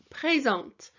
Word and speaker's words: présente: So présent, présente. And this E with the accent here, pré, it's got an A sound. So it sounds like it's going upwards.